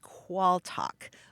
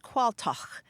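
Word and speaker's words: qualtagh: qu a a l t a g h qual talk or in some parts of Britain it's pronounced qual and it comes from mans it comes from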